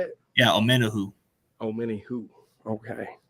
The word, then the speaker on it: Omenihu: Yeah, Omenihu.